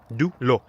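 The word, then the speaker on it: de l'eau: Dulo. I was pronouncing it dulu. Dulu. And she couldn't understand me until I said dulo.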